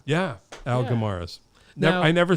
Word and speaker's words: Guimaraes: dave thank you oh it's great guimaras you got it yeah al gamaras never i never said